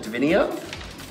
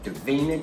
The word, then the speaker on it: Davina: Isn't it funny when you said it wrong and you knew that was wrong? Davina. I must say your name like that from now on and then I'll get it right.